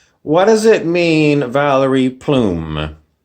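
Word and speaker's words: Plame: does it mean valerie plume plume sounds like a feather a feather in your cap plume rhymes with flume which is where you go down in the water park down the flume valerie plume was the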